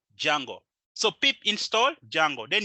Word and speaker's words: Django: you may call it dijango hey that's kind of weird the D is silent it's called Django so pip install Django